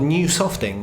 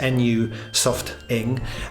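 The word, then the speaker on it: Nusofting: some pretty cool stuff they call new softing i think that's how you pronounce this nu soft ing and they've got this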